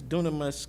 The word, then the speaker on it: Dunamis: So, what does, and forgive me if I'm saying the name wrong, what does Dunamis Clean Energy Partners do? You're saying it exactly correct, Okay.